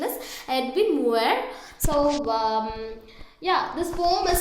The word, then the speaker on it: Edwin Muir: Okay, so it is the pronunciation is Edwin Muir.